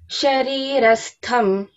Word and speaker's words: शरीरस्थम्: That green marker should be there for Tha, Mahaprana Tha. Sharirastham.